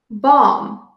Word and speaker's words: bomb: at the silent b b is not pronounced when it comes after M at the end of the word some examples are bom bomb many bombs were dropped